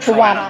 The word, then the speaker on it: Trowunna: Trowunna.